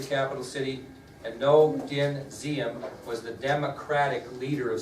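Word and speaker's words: Diệm: Now, although it's spelled with a D, it's pronounced Diem.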